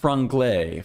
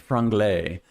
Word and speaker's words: Franglais: It is pronounced Franglais. Franglais. It is French, but that is the English way to say it, is Franglais.